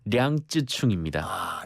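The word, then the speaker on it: 楊紫瓊: 이분의 원어민 발음이라고 할까요? 이제 중국어, 예. 이 중국 이름이 좋네요. 량쯔충입니다.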